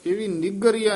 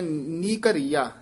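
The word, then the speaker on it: निकररिया: मोहनी नि कररिया जीयो नि गरिया नहीं कहना जिस तरह उच्चारण कीता गया इसी तरह बोलना पाठ कठा ही है देश देनी है नि कररिया नी दे विच क दे विच ड दे के बोलना माया मोहनी नी कररिया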